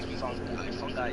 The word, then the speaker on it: fungi: It's actually fungi.